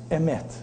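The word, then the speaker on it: אמת: Emet. You know what's amazing about Emet? It's the same Maharal, the great sage in Kabbalistic in the 17th century says. You know what's special about Emet?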